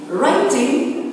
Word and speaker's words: writing: Okay, to save time, it's reading, writing, the W is silent, and arithmetic.